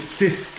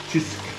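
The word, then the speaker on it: Cisk: It's called Chisk. Many foreigners call it Sisk, but it's pronounced Chisk.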